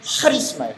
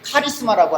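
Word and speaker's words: χάρισμα: 헬라 말로는 하리스마예요. 좀 발음 좀 이상하죠? 보통 카리스마라고 하는데 원래 발음은 하리스마예요.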